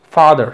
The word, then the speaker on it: father: Para eso, cuando tú veas fonética, y si ves que una palabra lleva aquí el apóstrofo, como en estos casos, ya sabrás que va acentuado en la primera sílaba. Father, silence and working.